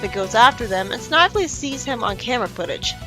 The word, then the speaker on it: Snively: Sonic sees some footprints in the swamp and goes after them, and Snively sees him on camera footage. I know it's pronounced Snively, but I'm used to saying Snively.